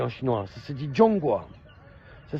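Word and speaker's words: 中国: ça se dit en chinois ça se dit jonga ça s'écrit Z h o N G g uo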